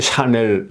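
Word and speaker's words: Chanel: 그 이게 샤넬 같은 이거는 발음이 어떻게 되냐면요 어네요 여기에 액센트가 있는 거예요 여기에 여기에 액센트가 있는 여기는 여기에 있고 액센트가 그래서 이건 불이기 때문에 액센트가 다른 거예요 쉬네요 이렇게 되는 거죠네요 예 이렇게 나눠서 발음해 애을 이렇게 발음해야 되는 거예 샤샤네 예 이렇게 발음해야 되는 거죠 예 그렇듯이 그러니까이 영어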